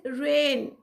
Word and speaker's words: reign: The word is reign. G is silent here.